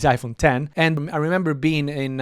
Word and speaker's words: iPhone X: the iPhone 10 or iPhone x but the pronunciation is iPhone 10 and I remember being